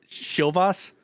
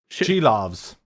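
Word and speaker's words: Silovs: Everyone always pronounces it wrong, and then Jesse corrects them. Shilvas? Shilovs. Thank you, Kat. Got the SH right.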